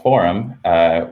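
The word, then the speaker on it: Forem: we've recently named the open source code base forum which is spelled f-o-r-e-m and that stands for the phrase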